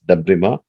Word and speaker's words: debridement: So even though you write it as debridement, you pronounce it as debrima.